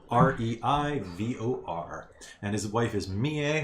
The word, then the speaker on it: Mie: And his wife is Mie, which is spelled M-I-E. like Mia with an E.